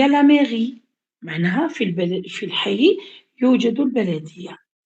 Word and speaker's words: mairie: Il y a deux syllabes dans ce mot. كاين زوج مقاطع في هذه الكلمة. Mais c'est la première syllabe. Ri la deuxième syllabe.